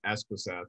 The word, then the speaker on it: Espeseth: your last name dude so it's a tongue twister but it's escrow South dude try saying that